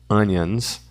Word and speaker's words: onions: O o tem som de a, o primeiro aqui, né? Faço an e aqui faço um onions. Tônica na primeira sílaba.